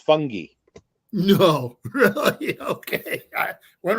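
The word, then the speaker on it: Fotheringay: name is spelled fathering gay but it's apparently pronounced fungi no really okay i went right over my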